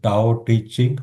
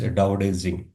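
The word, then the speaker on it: Tao Te Ching: For example, you know, see this book is purely based on a scripture called Tao teaching. It looks like but it pronounces Daoing, right?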